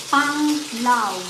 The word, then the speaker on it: Panglao: Gerald says it's Panglaw. Because Gerald says it's Panglaw. Yeah, Panglaw. Panglao. I I Lao. told you Lao. we don't pronounce A as A, we pronounce it A.